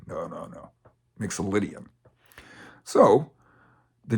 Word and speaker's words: Mixolydian: just a name it's a big name easily mispronounced Mixel odian no no no mixian so the G Mixel indan scale is a